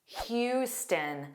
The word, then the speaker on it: Houston: Houston. So notice the beginning is Hugh. It looks like the beginning spelling of house or how but it's not.